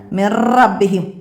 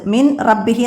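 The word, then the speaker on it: مِن رَّبِّهِمْ: അപ്പോൾ ഇവിടെ മിർ റബ്ബിഹിം, നൂനിനെ ഇവിടെ നമ്മൾ ഉച്ചരിക്കേ ചെയ്യരുത്, ഉച്ചാരണത്തിലൂടെ കാണരുത്. മിൻ റബ്ബിഹി എന്ന് ഓതരുത്, വെളിവാക്കരുത്.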